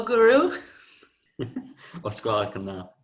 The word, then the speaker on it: gwrw: Is ala igeo pint o gwrw ysgwelwch yn dda.